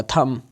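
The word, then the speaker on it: thumb: इसके examples climb होगा थम यहां पर भी थम जो है वो बी साइलेंट पढ़ेंगे हम लैम बी साइलेंट हो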